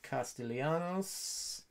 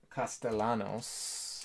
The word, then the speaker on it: Castellanos: akiyama 85 rookie nick castellianos turkey red castellanos excuse me add an extra syllable there yep that one is